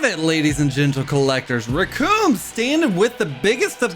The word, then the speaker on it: Recoome: And the Recoome that rhymes with your doom stands at about, holy ass, that's a really tall figure.